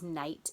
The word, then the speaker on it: night: sort of tricky because it has some silent letters in it doesn't it I don't hear that G at all but there it is number three is the